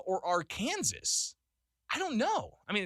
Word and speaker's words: Arkansas: of even, is it Arkansas or Arkansas? I don't know. I mean, it's spelled Arkansas, but we say Arkansas.